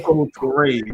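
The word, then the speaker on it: Kemoko Turay: Kamoko Toure.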